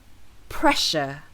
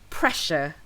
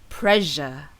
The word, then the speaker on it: pressure: on to our next word which is spell p r e SS u r e this word can refer to the force exerted